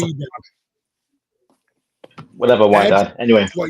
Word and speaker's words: Wydad: And it's pronounced Wydad.